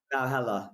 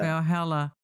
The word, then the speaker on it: Valhalla: Valhalla. Valhalla. Yeah. Valhalla.